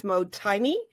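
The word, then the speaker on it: mottainai: It's called, I think it's how you pronounce it is motaini.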